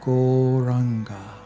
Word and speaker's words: Gauranga: We are now going to add the mantra Gauranga to our practice, turning that into a proper meditation technique. Gauranga means the golden lord of love, and it's got 4 syllables. Go, ra, anga.